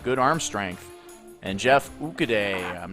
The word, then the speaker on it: Okudah: And Jeff Okudah, I'm not sure how you pronounce his name. I'm sure I completely flubbed Jeff it. Okudah. That's Okudah.